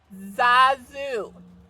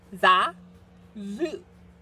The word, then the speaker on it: Xaku: Xaku. Potato. Say it with me. Xaku. Because X's are usually pronounced with a Z sound.